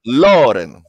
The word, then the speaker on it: Loren: With the accent on the O, Loren.